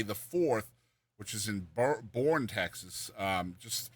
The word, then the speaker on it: Boerne: Yeah, I think they pronounce that Boerne, Texas. It is Boerne, Texas. That's right. Golly. It looks like Boerne, Texas, though.